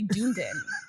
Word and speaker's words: Dunedin: It should just be Dunedin.